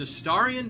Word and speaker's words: Astarion: had heard you say his name wrong. Oh. Because No, I what get was that. it? It's Astarion because specifically it's I forget what it is.